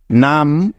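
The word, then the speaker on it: numb: এতক্ষণ যাবত শিখলাম তাইতো তাহলে এই শব্দটার উচ্চারণ হবে ন আকার ম একত্রে যোগ করলে হয়ে যাবে নাম অর্থ হলো অবস বা নিশ্চল মনে থাকবে তো এই শব্দটাকে কিন্তু কখনোই নাম এভাবে উচ্চারণ করা যাবে না বোঝা গেল তাহলে চলো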